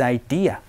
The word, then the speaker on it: idea: 여기에서 발음 포인트 하나 말씀드리면은 아이디어라고 한국어로 적혀 있죠. 그리고 영어 발음 기호에서도 어와 비슷하게 발음을 하라고 되어 있지만 실제적으로 여러분이 들을 수 있는 발음은 아이디어가 아니고요. idea, dia 라고 얘기를 하면서 어 소리가 아닌 아 소리니까 요거 조금만 주의를 해주시면 좋습니다.